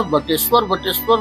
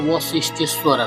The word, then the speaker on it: वशिष्ठेश्वर: तो यह बटेश्वर लोग बोलने के लिए बोल देता है, लेकिन इसका शुद्ध उच्चारण है वशिष्ठेश्वर स्थान।